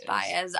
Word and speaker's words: Baez: Baez.